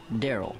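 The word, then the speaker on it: Darryl: you oh he's the top scorer rl it's pronounced daryl daryl don't go i need your help oh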